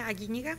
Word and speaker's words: Aguiñiga: I'm Tanya Aguiñiga is the correct pronunciation, but it's really hard.